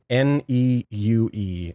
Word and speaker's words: Neue: Neue is how you say.